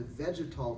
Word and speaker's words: vegetal: So green tea that's brewed properly actually has a flavor, it sounds like the word vegetable because it's kind of like vegetable. It has a vegetal taste, which means it